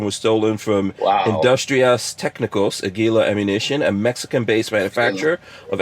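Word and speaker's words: Águila: No, You should know how to stolen from pronounce the that. manufacturer. Yeah. It's Aguila or Aguila. How do you say that? Aguila.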